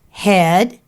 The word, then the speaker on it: head: We've got head, it's spelled with an EA, but it doesn't make the long E sound.